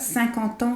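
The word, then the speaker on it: cinquante ans: So here, 50 ans sounds like one word, like it's all attached.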